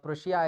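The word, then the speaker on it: Prussia: क्या बोलते थे प्र प्रशा बोलते हैं ठीक है क्या बोलते हैं प्रशा हिंदी में प्रशा प्रशा बोलते हैं और उसमें प्रशिया ऐसा करके वहां पर प्रोनाउंस होता है इंग्लिश में ठीक है लेकिन वो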